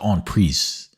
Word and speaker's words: en prise: So I missed that his rook was en prise, or it's technically pronounced en prise with the S sound.